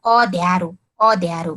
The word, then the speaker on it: अँध्यारो: अब जस्तै अँध्यारो, अको माथि चन्द्रबिन्दु भएन भने के हुन्छ त, अँध्यारो, त्यसको चाहिँ जुन हामीले उच्चारण गर्दाखेरि नै के हुन्छ, त्यसको हुन्छ नि त, यहाँनिर चाहिँ यो नाके ध्वनि उच्चारण हुन्छ चन्द्रबिन्दुले, अँध्यारो, त्यसको स्पष्ट चाहिँ यो अन्धकार रहेछ भन्ने बुझ्छौँ होइन।